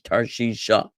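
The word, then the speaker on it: תרשישה: It goes together with the hey. It's an sound at the end of the word Tarshish, Tarshisha.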